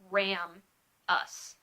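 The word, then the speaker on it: ramus: two go together a Ramos a Ramos is an arm like bar of a bone so it's spelled are a.m. us so it's like ram us are a.m. ram us and if you ran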